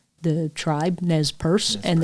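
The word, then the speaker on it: Nez Perce: how you correctly pronounced nesp Pur the tribe NES purse and that's how they pronounce it because it's a French word the French gave the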